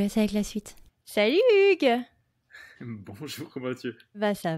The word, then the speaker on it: Hugues: D'accord, bon écoute, je m'appelle Hugo, Hugues, alors je dis Hugo en anglais, c'est plus facile à prononcer pour les Américains.